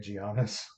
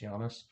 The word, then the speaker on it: Giannis: with names and I would always say it giannis and they'd be like hairy idiot it's Yanis so I I do say it correctly now I wish this